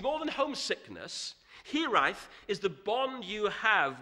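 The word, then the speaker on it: hiraeth: are difficult to say and almost impossible to spell it's the word hereife there's no direct translation into English but it's a word for the tug of your Homeland on your heart it's more than homesickness here ith is the bond you have with a place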